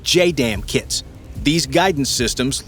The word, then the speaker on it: JDAM: For the Mark 84 bombs, this comes in the form of what are called Joint Direct Attack Munition or JDAM (pronounced J-DAMN) kits.